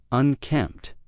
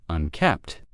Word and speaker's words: unkempt: It's the word unkempt. Unkempt, not unkept, and I'll talk about that in a second. We have a nice consonant cluster at the end there, MT, unkempt, unkempt.